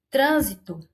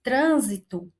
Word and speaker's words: trânsito: Trânsito. Olha o trânsito. O trânsito. O tran, aí ele tem um acento mais fechado, por isso que acentua-se com o acento circunflexo.